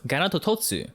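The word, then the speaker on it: ガノトトス: Its Japanese name is pronounced Ganatototsu, so it makes you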